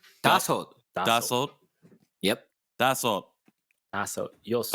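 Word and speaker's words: 다섯: Dasot. Dashot.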